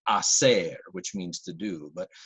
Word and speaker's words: hacer: pronounce Spanish letters so the letter H in Spanish is silent and you have a verb like hacer which means to do but many students tend to say hacer they pronounce the H